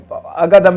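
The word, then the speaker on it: Ağdam: था, उसका नाम था अगादम भी कहते हैं, आदम भी कहते हैं, क्योंकि वो GH को वो साइलेंट करते हैं तो हम इसे आदम शहर कह लेते हैं।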